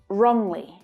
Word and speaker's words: wrongly: And in wrongly as well. So where I pronounce this vowel sound as O, Gabby uses more of an ah sound.